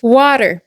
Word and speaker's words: water: Nous les Américains au quotidien, on a tendance à prononcer le thé d'une manière assez particulière en une sonorité qui est très proche du D. Quelques exemple : Water, quality Italy notice.